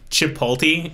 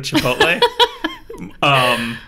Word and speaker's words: Chipotle: So, one of my favorite mispronunciations is Chipotle instead of Chipotle.